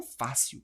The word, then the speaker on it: fácil: Eu falo facil. Eu falo fácil. Portanto, a força está aqui no A, é uma paroxítona e termina em L.